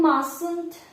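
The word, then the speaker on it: mustn't: не повинен наприклад їм масунд Dota не забуваємо що буква ті не читається Тобі не потрібно цього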